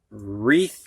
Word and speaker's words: wreath: Now we're going to have words with a silent W. And these W's are followed by an R. You can hear the R, but not the W.